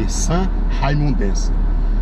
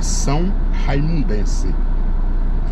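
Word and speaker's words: são-raimundense: aqui é são raimundense é que a gente chama de S raimundense e mas a pronúncia correta então é são raimundense pois bem quero aqui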